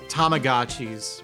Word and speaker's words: Tamagotchi: I got real indignant once because I mentioned Tamagotchis when I was hanging out with some dude